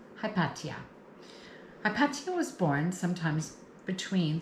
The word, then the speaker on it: Hypatia: Hypatia sounds like Hipatia in ancient Greek Egyptian times. I believe the H was silent sounds like Hipatia but I will go with the comfort of modern times. Hipatia.